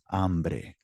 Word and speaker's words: hambre: Tengo hambre. So that's how it's spelled in the chat.